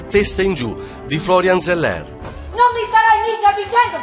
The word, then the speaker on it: Zeller: E Zeller, giusto per essere fedeli alla pronuncia francese, ha scritto un testo matematico straordinario.